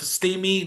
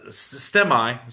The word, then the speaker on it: STEMI: She's got she is the editor-in chief of Steamy News Network, uh, STEMI, sorry, mispronounced the A, but Stemi News Network.